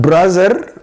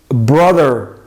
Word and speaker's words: brother: Next one, not brother, it's brother, brother, brother.